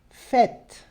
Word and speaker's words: fête: fête. Fête. Percebe o E no final, que não se pronuncia, igual esse aqui, né? Que a gente viu aqui em cima. Então, nesse caso, fête. Som de E. Fête.